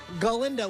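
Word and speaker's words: Glinda: is Austin Danielle Bower she plays gindo with a G did I get the pronunciation right indeed that is correct she is ostensibly the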